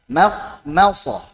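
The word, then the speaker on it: مخمصة: Saat menipiskan jangan berlebihan dalam menipiskan. Makhmasah. Maradun, marda, al qamar, ma amar, ma Allah. Jangan berlebihan dalam menipiskan. Jadi taklil. Makhmasah. Jangan makhmasah jadi tebal atau makhmasah jadi taklil. Ma biasa. Makhmasah. Ma amar.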